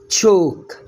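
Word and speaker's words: chalk: طباشير، تشوك. طباشير تشوك، يبقى عندك السي اتش هنا اتنطقت تش.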